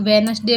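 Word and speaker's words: Wednesday: तो वेडनेसडे में डी है, साइन में जी है,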